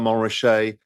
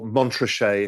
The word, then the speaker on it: Montrachet: Puligny Montrachet, Chassagne Montrachet, or even if I'm feeling flush, a Batard Montrachet, or Montrachet if you're an American or an Australian because you don't know how to pronounce things.